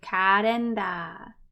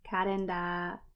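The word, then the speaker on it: カレンダー: That's a katakana word, so it's karenda, karenda. Remember to lengthen out that sound at the end there.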